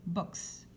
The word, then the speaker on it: boxe: qu à la fin c'est parce que c'est un mot qui vient de l'anglais est donc comme c'est un mot étranger on le prononce comme en anglais boxe le box in disguise